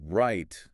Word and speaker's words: right: So right sounds just like rye-tea. Think of the grain rye, R-Y-E. Like rye bread. Exactly like rye bread. And then just add a T sound at the end.